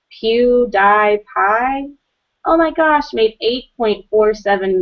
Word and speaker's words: PewDiePie: I think it's supposed to be pronounced PewDiePie, as in cutie pie.